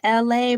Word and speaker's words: Elay: My name is LA, pronounced like LA, like the city.